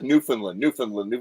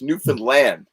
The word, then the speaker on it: Newfoundland: Or worse, you get there, you get to Newfoundland, and first of all, they don't say Newfoundland up there. Like everybody I know says Newfoundland. It's Newfoundland. You punch land.